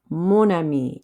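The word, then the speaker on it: mon ami: ma we have to use so we have monami instead of me all right same rules apply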